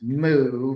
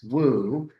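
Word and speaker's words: 武: And at the center of it is a Chinese character, which the Koreans would pronounce moo, but the Chinese would pronounce woo.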